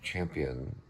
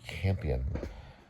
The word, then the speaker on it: Campion: So this is Jane Champion. I believe I say it wrong. It's Jane Campion, the piano.